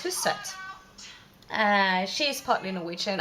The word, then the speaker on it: Hustvedt: without men by siri houston or siri um whatever rocks your boat um you might wonder about my my pronunciation or her last name but it's a norwegian last name so it's whose set uh she is partly